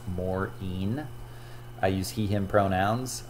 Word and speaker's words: Morean: is maureen yes my last name is pronounced morin i use he him